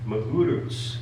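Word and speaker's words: Magarac: of the origins of Joe Magurus, is how one of my sources says to pronounce that last name over there.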